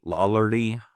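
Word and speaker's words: Lollardy: And so the movement was also called Lawardly. Lawlerly, it's how you pronounce it.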